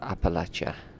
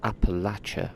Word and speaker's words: Appalachia: to see more of it let's talk about Appalachia it's a full land and the people are resourceful we will do everything we can to support this um okay you know it's pronounced Appalachia right ah did I slip up again old